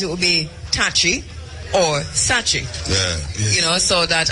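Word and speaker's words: Sakyi: t-a-k-y-i or t-a-k-y-i-i and so to the name sachi s-a-k-y-i-i so that it would be touchy or sachi yeah you know so that at some point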